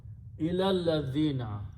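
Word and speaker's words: إلى الذين: So when you read them together, you do not pronounce ilah, you just remove this little alif there and combine this lam with this lam. Ilal ladhina. Have you not come to know about those people?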